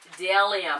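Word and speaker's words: Bdellium: I believe it's pronounced de Liam I think the B at the beginning is silent it spelled B de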